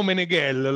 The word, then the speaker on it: Meneghel: momento ok Allora sono meneghel l'accento su gel di origine Veneta Quindi